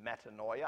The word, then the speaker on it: metanoia: for repent which is Metanoia I love the fact that metanoia rhymes with paranoia we're turning from everything